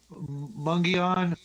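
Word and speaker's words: Mogollon: My old man said he was hunting elk up above Arizona's Mongolian rim, pronounced Mungion, and he had what he thought was a Bigfoot in his scope, but he did not shoot.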